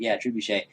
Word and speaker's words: trebuchet: Trebuchet. Firing from inside. Whoa, how did you pronounce that?